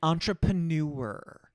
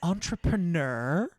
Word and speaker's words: entrepreneur: herself, I'm just going to say it, an entrepreneur. Oh, she says it weird. It honestly, sibilant S's, an entrepreneur. It's entrepreneur, Audra.